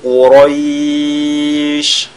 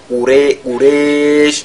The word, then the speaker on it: Quraysh: Li-ilafi Quraysh. Et ce qu'il faudra éviter, c'est de faire, de lire ce ra comme s'il y avait le son e, Quraysh, c'est pas bon, Quraysh, n'est-ce pas, ra, Quraysh.